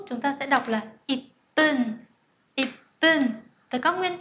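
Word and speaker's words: 一分: Hoặc là 1 phút chúng ta sẽ đọc là ip bun, ip bun.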